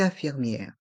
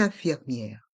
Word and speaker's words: infirmière: de même pour une infirmière on fait la Lison avec le N de une et le I de 1 le E est mué une infirmière et les lettres I e r font le son y est un infirmier et dans une infirmière les lettres I e accent grave r e faut le son hier une infirmière un infirmier une